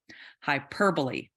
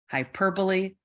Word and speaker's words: hyperbole: from the beginning so hyperbole hyperbole hyperbole all right normally the e at the end of a word is silent but in this case it's not it's probably because this word is not English but that's a lesson